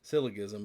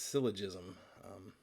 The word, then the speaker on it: syllogism: I was calling it syllogism, but it's syllogism.